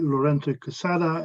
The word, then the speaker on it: Lorenzo Quesada: and clear yes thanks i must say your pronunciation of my name was perfect thank you very much because this is spanish and uh everyone always gets their own so thanks very much for